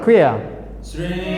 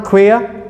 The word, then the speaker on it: queer: The second one, queer. Queer. I want to hear the ear sound.